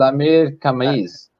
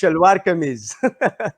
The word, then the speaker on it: Shalwar Kameez: That was a Shlamir Kameez. That was That's Shalwar Kameez.